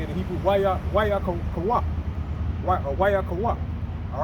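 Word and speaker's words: ויקרא: Wayakawak.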